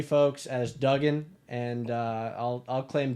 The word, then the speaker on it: Dugan: be like all right pretend it is double O but if you think